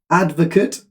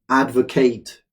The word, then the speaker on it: advocate: Okay, number two, advocate or advocate. It's the same spelling for both pronunciations.